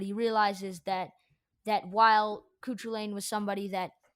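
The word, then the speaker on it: Cú Chulainn: realizes that that while couture lane was somebody that it's it's lane by the way i've been pronouncing it wrong um but uh while kukulen has been like a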